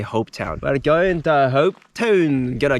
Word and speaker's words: Hopetoun: Well, we're just a couple of minutes out of HOPETOUN. I think that's how you pronounce it. Kind of sounds like how a Scottish person would say HOPETOUN.